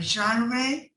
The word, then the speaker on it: genre: awkward but because but it's because it comes from a french word okay uh you can